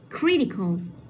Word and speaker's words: critical: Tiếp theo, critical. Critical. Cái đuôi O đấy là nằm ở âm tiết số 3. Vậy mình sẽ nhấn vào âm 1.